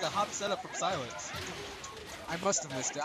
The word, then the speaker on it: Psylence: I recently found out that you pronounce it like the word silence.